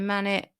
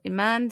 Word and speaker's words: Imane: it has resulted in a Manet or Iman sorry I've been pronouncing the name wrong all the time uh